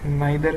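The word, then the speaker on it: neither: आइदर के साथ हमेशा क्या आएगा, और नाइदर के साथ हमेशा क्या आएगा बताइए, नोर। ठीक है, इसको ईदर और नीदर भी बोलते हैं, प्रोनाउंसिएशन अलग हो सकती है।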